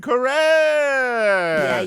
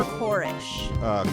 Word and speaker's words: Koresh: I want to say my main man, David Koresh. Yeah. So is it Wow. Koresh or Korish?